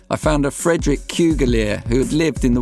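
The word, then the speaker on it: Cugullere: It's pronounced Cougalier, explaining why he'd been known as Sidney Kew.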